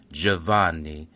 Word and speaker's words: Giovanni: the American English language, in Italian you would pronounce this Giovanni, John Stanfa, was born on December 7, 1940.